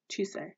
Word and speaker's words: Chise: So I just watched the first episode of the anime just to make sure that it was how to pronounce her name. It is Chize. Chise.